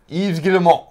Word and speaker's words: Yves Guillemot: And it says, and the quote from Yves Guillemot, the CEO of... Can we give him a round of applause? That was some fucking pronunciation. Yeah. Do it again. Yves Guillemot.